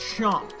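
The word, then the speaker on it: Seam: The name's, pronounced Chomp.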